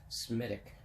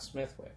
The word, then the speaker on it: Smithwick: have a Smitty but Semitic not Smithwick they don't pronounce the T and there's no W in the Irish language so Semitic not Smith look and I'll tell you